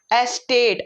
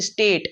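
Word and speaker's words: estate: एस्टेट, अच्छा बच्चे pronounce करते हैं इसे स्टेट, स्टेट नहीं, स्टेट राज्य हुआ, एस्टेट बड़ी बड़ी जमीनें।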